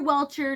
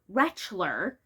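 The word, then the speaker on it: Rentschler: Not Dr. Welchure, not Dr. Wrench, not Dr. Ranch. Dr. Wretchler, which is spelled like Rent and then Schlucker.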